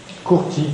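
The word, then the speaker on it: courtil: Mais qui se dit toujours en picard Courti, il ne prononce jamais le L, contrairement à Persil, où on dira, alors qu'en français on ne doit pas le dire.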